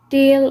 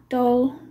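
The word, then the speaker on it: Dahle: So here I have my pencil sharpener from Dale or Doll, whatever. Doll or Dale. I've heard it pronounced both ways.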